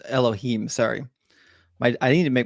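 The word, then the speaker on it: אלהים: Let me see if I can pronounce this one quickly. Hayakol Ukal Daber Me'uma Hadaber Hadabar Esher Yasim Elikim. No, it's Elohim.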